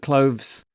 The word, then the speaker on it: clothes: this week no uh I have to say that cloves is one sound huh I'm not going to talk about that anymore apparently the S doesn't count as a syllable you were quite right